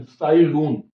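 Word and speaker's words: Cai Lun: इनकी स्पेलिंग लिख दी है CAILUN, साई लून, हिंदी में इनको बोलते हैं।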